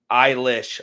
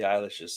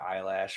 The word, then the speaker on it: Eilish: So when I did a Pentatonics reaction of Billie Eilish's song, I believe. I've been calling her Eyelash for a long time, Billie Eilish. and people got really mad that I mispronounced her name.